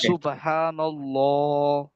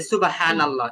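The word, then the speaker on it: سبحان الله: তো এখানে কিভাবে উচ্চারণ করতে হবে মোটা করে উচ্চারণ করতে হবে সুবহানাল্লাহ হ্যা আমরা আগে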